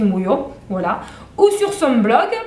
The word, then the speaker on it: Mouillot: Alors, l'illustratrice, l'auteure illustratrice, vous pouvez la contacter, Sophie Mouillot, sur son Facebook, parce qu'elle a un Facebook. Alors, son Facebook, c'est Sophie Mouillot, donc MOUI2LOT, facile, hein, comme ça se prononce, Sophie Mouillot, voilà.